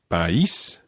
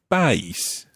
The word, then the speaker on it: país: For example, with país, we've got the accent on the I, so it's país. If it were on the A, it would be país.